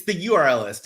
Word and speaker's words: theurlist: How do you pronounce it? It's the URL list.